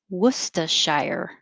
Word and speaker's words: Worcestershire: or you can say worcestershire or the last one shire and i spelled it shy with an er worcestershire worcestershire and the only